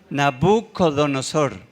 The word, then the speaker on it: Nabucodonosor: Diga Nabú. Nabucodonosor. Nabú. Porque es que algunos pronuncian mal. Si le digo cómo pronuncian mal, se le queda aquí. Entonces por eso es Nabú.